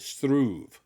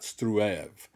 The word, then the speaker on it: Struve: "It is pronounced Struve, not Struev. One syllable, when you roll the R sound," the scientist replied directly, with a level of discontent.